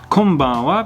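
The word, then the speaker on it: こんばんは: Now, something to keep in mind is that konnichiwa and konbanwa both have a wa sound at the end, but you don't really pronounce the W really heavily in this. Konnichiwa, konbanwa, almost like you're barely trying to say a W.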